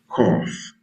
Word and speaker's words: cough: Cough. Imagine that. C O U G H. Cough. So now G and H makes the F sound too like P and H.